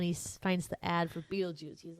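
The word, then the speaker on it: Betelgeuse: is like a weird ge, but you do pronounce that Beetlejuice after I did some research because for years I was saying you pronounce it Beetlegeist.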